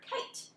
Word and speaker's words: kite: do the same thing with the word kite he doesn't make any sounds cross it out scoop your syllable market